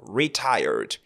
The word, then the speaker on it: retired: Faites attention à la prononciation. On ne dira pas retired, le R ici. Donc, retired, tired, in American English.